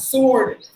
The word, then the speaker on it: sword: Same way how you pronounce it, but don't sound the letter R. Look at that. Sword.